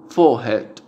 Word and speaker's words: forehead: En inglés británico no se pronuncia la R que viene después de una vocal. Entonces la vocal se hace larga.